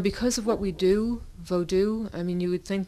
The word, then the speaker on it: Vodou: It goes way back, but it really, you know, if you say voodoo, or well, if you say Vodou, if you pronounce it that way to the average American, they're probably not going to know what you're talking about.